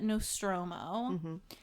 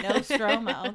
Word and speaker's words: Nostromo: the crew of the Nostromo and I had to write out how to pronounce it no stroo the no stroo there are seven aboard